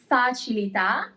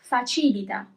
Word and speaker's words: facilità: If there wasn't an accent, then the word would be read as facilita. But it's facilità as we have an accent over the last letter.